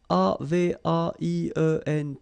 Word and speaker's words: avaient: And then you saw probably that we've got also here A-V-A-I-E-N-T, but then you pronounce it avait.